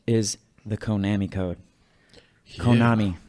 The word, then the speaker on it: Konami: Konami. I pronounce it Konami.